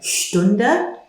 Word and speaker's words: Stunde: Remember the sh sound at the beginning. Eine Stunde, an hour.